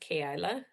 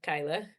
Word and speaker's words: Keilah: And it's technically pronounced Kaila, but we call her Kyla, Keilah.